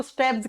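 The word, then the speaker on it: stapes: मैंने कहा था स्टेब्स को हिंदी में हम स्टेपीज लिखते हैं। लेकिन जब प्रोनाउंस करते हैं तो इसको स्टेब्स कहा जाता है।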